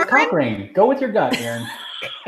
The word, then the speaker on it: Cochrane: Like Johnny Cochran? Yes. No, it's Cochrane.